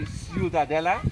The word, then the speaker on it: Ciutadella: the historic center of ciutadella it is a bit difficult the pronunciation right you can also say ciudadella this would be in castilian spanish which is a kind of dialect of catalan to make it not